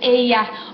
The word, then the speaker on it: ella: Entonces, the double L that we're used to saying, that's what we call it in English, the double L, se pronuncia como Y en inglés. Entonces, ella looks like ella, but no, it's ella.